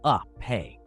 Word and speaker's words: agape: To understand the Babel Event, we also need to explore the concept of the Greek word spelled agape, but pronounced more like a-pe for context.